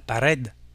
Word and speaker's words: pared: Mur se termine par un D, est féminin en espagnol, on dira la pared, una pared.